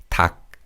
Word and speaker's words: 닭: And in this word, we pronounce the 기역 in the 겹받침 and 리을 is silent. So it's 닭, 닭.